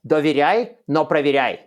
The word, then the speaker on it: доверяй, но проверяй: It actually rhymes in Russian. It's доверяй, но проверяй. It sounds exactly that, trust but verify, but in Russian it rhymes, so that's the cool part.